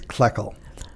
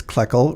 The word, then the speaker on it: Kloeckl: It is Kloeckl. Right. See, and Kloeckl. I'll give you a little clue. My mother was an English teacher, and she always told her students, it's Kloeckl rhymes with freckle.